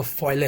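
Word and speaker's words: poêlé: इसका जो प्रोनाउंसिएशन है वो फॉले होता है, ठीक है?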